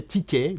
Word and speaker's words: TK: On a fait une espèce d'abréviation de son prénom et c'est devenu en anglais TK, donc TK prononcé à la française.